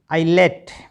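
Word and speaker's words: islet: आई एस एल ई टी आई लेट।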